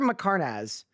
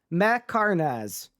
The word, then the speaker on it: Mhekharnaz: How do you pronounce it? It's Fletcher Macarnaz. Macarnaz.